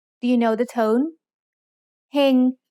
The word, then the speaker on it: เฮง: เฮง has a low-class consonant with a live syllable ending, so it's mid-tone.